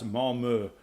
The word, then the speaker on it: Malmö: Now, Malmo, side note, is in Swedish is pronounced because it has an umlaut. It's Malmö, but I prefer, it's America. We're going to call it Malmo.